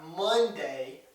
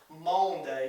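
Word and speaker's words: Maundy: typically known as Monday Thursday now it's not Monday Thursday like we would like to think it's actually mom day so it's spelled m-a-u-n-d-y and what mondi means is it's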